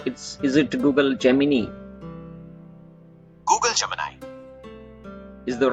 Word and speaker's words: Gemini: Google Gemini. Is the right pronunciation?